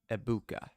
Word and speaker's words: Egbuka: out of Bounds at the 18 egbuka aa abuka aa abuka that's how you say it 12 yard reception